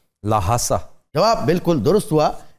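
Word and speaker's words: ल्हासा: उसका कैपिटल क्या है लहासा जवाब बिल्कुल दुरुस्त हुआ एच प्रोनाउंस नहीं भी करते लेकिन ज्यादा किया जाता है लहासा लाहा सा ये बड़ी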